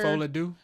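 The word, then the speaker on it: Folie à Deux: Folie-à-deux.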